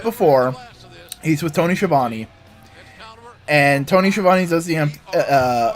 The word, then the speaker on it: Schiavone: And at the beginning, Jericho does normal Skiavone. And at the very end, he just looks at Tony and goes like, I have a match to go win, Schiavone. Like, actually pronounce his name right and just go like,